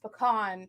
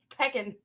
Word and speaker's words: pecan: How can pecan be pronounced pecan? It's pecan. Peckin.